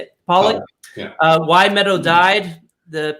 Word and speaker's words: Polak: Is it Polak? Is that how you say it? Polak?